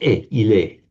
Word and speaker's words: il est: And in modern French, written the same, but pronounced il est, he, she, it is.